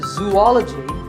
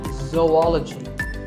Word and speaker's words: zoology: If you said zoology, it's actually wrong. That is a very common mispronunciation. This is actually zoology. Zo and ology. Zoology.